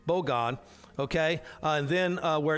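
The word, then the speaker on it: בגד: uh Hebrew it's uh B God no bog God emphasis accd on the first syllable bog God okay and then uh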